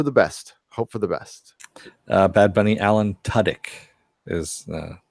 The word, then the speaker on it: Tudyk: best hope for the best bad bunny Alan Tudyk is how it's pronounced not you wrote it there but thanks